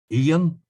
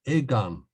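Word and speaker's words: Aodhán: a, and that is either can be pronounced Ian, E and An, Ian, or the DH in the middle of a word is normally pronounced like a G in Irish. So it can also be pronounced Egan, Egan.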